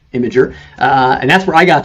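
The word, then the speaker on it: Imgur: That is how it's pronounced, Imager.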